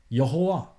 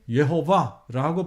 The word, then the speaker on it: 여호와: 듣고 결론 내린 것은 야외가 아니라 여호와 혹은 예호바라고 발음하는 것이 맞다라는 결론을 내렸습니다 우리는 오해 혹은 와우헤요